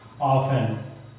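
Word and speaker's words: often: उसको नहीं जाता है देखिए ये दिया है ओ एफ टीई एन ठीक है ऑफ एन समझ गए तो इसमें ओ पढ़ा गया एफ पढ़ा गया टी नहीं पढ़ा गया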